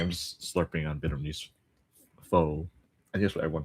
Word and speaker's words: pho: That's how you pronounce it. Pho. It's like a weird pause where you say like pho. It's funny how that works. It's because it's one of the 6 tones that stalls it.